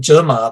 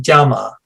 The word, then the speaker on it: 纸马: photo prints and interestingly because of the yunnan pronunciation they don't call them germa they call them jama um the um yeah